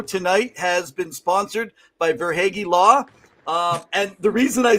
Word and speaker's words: Verhaeghe: Tim usually pronounces his last name as Verhaeghe. Verhaeghe, oh. But we call him Verhaeghe because it's more hockey-ish.